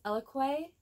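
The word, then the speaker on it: Eloquii: But it's Eloque.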